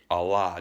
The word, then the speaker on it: Allah: Allah, just exactly the same pronunciation. There is no phonetic stresses and syllables that change from Allah, from pre-Islamic to current state of the Arabian Peninsula and surrounding areas of the Arab peoples.